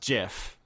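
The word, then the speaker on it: GIF: of I opaquely on it's pronounced jiff please but yeah like I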